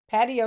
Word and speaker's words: patio: thanks to American English, they're spelled the same but pronounced completely different. Patio is patio, ratio is ratio, but they don't even rhyme.